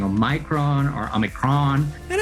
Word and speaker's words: omicron: usually you'll see that a lot of these greek words have a stressed syllable at the beginning of the word and so omicron would